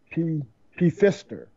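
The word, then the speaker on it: Pfister: And then I've been trying to get a hold of Cody P. Fister. The P is silent there, player.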